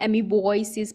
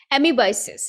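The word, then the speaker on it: amoebiasis: एमीबॉयसिस में ओ होता है साइलेंट। फिर भी मैं एमीबॉयसिस पढ़ लेती हूँ, दैट इज रॉन्ग। एमीबाइसिस, एमीबाइसिस और मलेरिया पढ़ेंगे।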